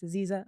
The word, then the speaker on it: Aziza: I'm like, it's Aziza, like Louisa, like diva.